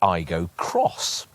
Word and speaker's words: Aygo X: us this car the iGo cross it's pronounced I go Cross by the way like the Yaris cross Toyota's smallest SUV the